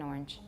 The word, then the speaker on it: orange: is outrageous you know changing this word to one syllable but that's the way we say it where I come from Orange I'd like an orange orange orange orange how many syllables do you hear I only hear one I'm only making one